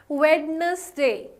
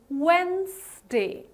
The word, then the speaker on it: Wednesday: how you pronounce it Wagner's day no my dear friends that is not the most appropriate way to pronounce it this is called as Wednesday the D here Wednesday the D here is more or less silent right so whenever you pronounce it you're gonna call it Wednesday right Wednesday okay what